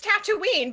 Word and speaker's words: Tatooine: the right pronunciation aleena it's Han he introduces himself as Han and it's Tatooine because the people who live there say I live on Tatooine all of it al